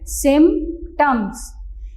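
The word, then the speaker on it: symptoms: सिम्पटम्स। SYM, सिम। P इसमें silent है।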